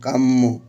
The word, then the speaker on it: কাম্য: এরপর জফলা থাকার কারণে মটা দুইবার উচ্চারণ হবে। প্রথমে কাম, মৌকার মো, কাম্য।